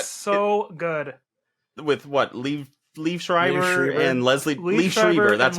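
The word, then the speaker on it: Liev Schreiber: yeah that is so good with what leave Leaf Schreiber and leslieber that's how you pronounce it yeah and Leslie Jones yes we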